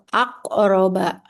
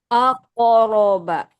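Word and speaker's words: أقرب: Aqroba langsung aq aqroba. Iya ya. Jadi jangan dikasih jeda ya karena dia tadi masuknya yang ini sukun biasa.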